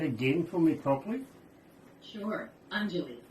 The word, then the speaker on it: Anjali: So, can I get you to pronounce that again for me properly? Sure. Anjali. Anjali.